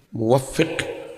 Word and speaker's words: muwaffiq: Kalau yang PMI itu muwaffiq bukan muwafiq ya.